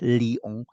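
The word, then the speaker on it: Lyon: un obispo de Lion se pronuncia Lion la y en español de España es León pero yo estoy pronunciandole como en inglés la ies hay el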